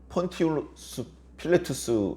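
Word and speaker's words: Pontius Pilatus: 사람의 대표자가 본디오 빌라도 원래 로마식 발음으로 한다면 폰티스 필라투스 일 텐데 그 사람은 그냥 평범한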